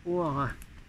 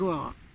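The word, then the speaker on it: Hoara: Alors un message de O'Hara. Non, c'est pas un Irlandais, j'ai déjà dit, c'est un frère de l'espace qui communiquait avec Guinness Sargusa et qui s'écrit H-O-A-R-A. H-O-A-R-A. Allons-y avec O'Hara.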